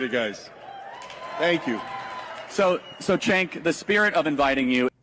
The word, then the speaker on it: Cenk: It is Jenk, I believe. I asked him like 20 times and I realized. How do you actually pronounce it? Everybody's like Jenk. It's Jenk.